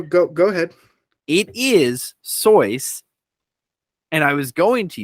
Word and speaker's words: Seuss: is a pen name it is however it's pronounced soyce and and him saying in a poem that it's pronounced soyuz is completely valid and that is how it's pronounced whether it's his pen